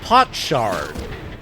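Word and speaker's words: potshard: to pronounce that word it's pot Shard but it's been Twisted by time um you will you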